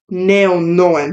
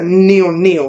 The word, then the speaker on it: NeonoeN: an artist that is the same front ways and backwards when you say it I believe it's pronounced NE no not like I've heard people say neon NE which is like definitely